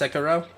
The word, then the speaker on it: Sekiro: pronounced Sekiro?